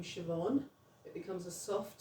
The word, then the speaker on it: Siobhan: The letter um Oh, the letter B can also be pronounced as a V. Just like we have in Irish, you have the name Siobhan.